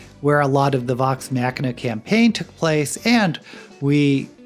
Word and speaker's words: Vox Machina: if i've been mispronouncing vox machina this i know i've pronounced it 100 different waves but i've been told that it's pronounced with a hard k just forgive me if